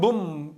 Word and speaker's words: bomb: 이번에는 boom. 이거 조심하십시오. B가 발음 없습니다.